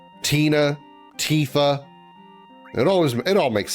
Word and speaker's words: Tifa: thought it was uh Tifa because I thought it was like a shortened version of Tiffany. I I didn't know that it was actually just pronounced Tifa until I played or until I watched uh Advent Children.